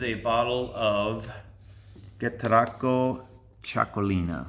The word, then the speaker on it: Txakolina: bottle of get teracle choco Lina that's how you pronounce that chuckle inna anyway chuckling